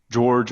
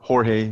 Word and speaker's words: Jorge: And my first name is George, or Jorge. It's spelled Jorge. All right.